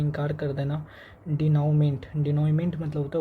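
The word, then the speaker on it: dénouement: डिनमेंट। डिनोमेंट मतलब होता है उपसहनार या क्लाइमेक्स। इसका स्पेलिंग देख लेते हैं।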